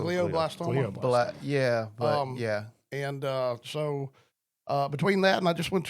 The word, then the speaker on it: glioblastoma: fundraiser, who has, and I always mispronounce this word, glioblastoma. It's glio. Glioblastoma.